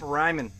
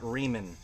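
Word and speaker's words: Reiman: to Tim, and Tip Ryman. Definitely don't pronounce that Riemann. Not with a name like Tip.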